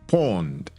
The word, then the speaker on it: pwned: It's called Have I Been Pawned? But the pawned is spelled PWNED.